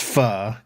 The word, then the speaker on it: pho: it is pho. And Spidey, can I present a thing real quick? Oh, absolutely. Yeah, sure. This is an actual restaurant in San Antonio, Texas. Okay. And knowing that it's pronounced pho, go ahead and read the title of this.